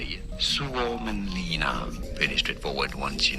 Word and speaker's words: Suomenlinna: Suomenlinna.